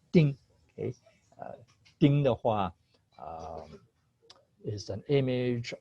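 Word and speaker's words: 丁: uh at the bottom okay by itself it's pronounced ding okay uh is an image of a nail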